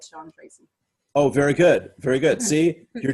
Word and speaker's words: Treacy: It's Treacy, like good. treacle. Right. That's without the LE.